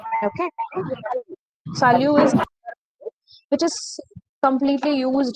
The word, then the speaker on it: salut: So salyu is used among friends and family members. This word salyu. We have already seen the last letter T is silent.